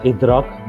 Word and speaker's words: IDRAC: अभी name of the institute is spelled IDRAC, so we pronounce it as IDRAC Business School.